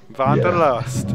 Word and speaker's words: Wanderlust: explore and I know it's a German world that's not really vanderlust is that how you say it Wanda means uh we are basically walking so you have to say Vander list is ideal you're gonna